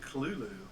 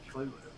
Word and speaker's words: Cthulhu: The correct pronunciation is Cthulhu. That's bullshit. No. Okay, hey, that's what Lovecraft says, man.